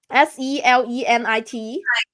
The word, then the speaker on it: selenite: Yes, selenite, N-I-T. I hope I pronounce it right. Selenite.